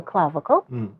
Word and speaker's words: clavicle: I think it's called the clavicle.